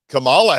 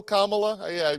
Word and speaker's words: Kamala: Is it still Kamala? I thought it changed somewhere along It's the Kamala. way. Yeah, I remember there's like no stress on any syllable, but yeah, I like it.